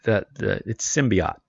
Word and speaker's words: symbiote: Yeah, it's symbiote, not oat.